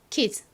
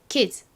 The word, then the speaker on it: kids: 발음은 kids가 아니라 드 발음과 스 발음이 합쳐져서 z처럼 바뀝니다. 자, 아이들도 발음해 볼게요. kids, kids.